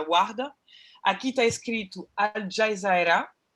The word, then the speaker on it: Warda: Warda, a gente pronuncia Warda.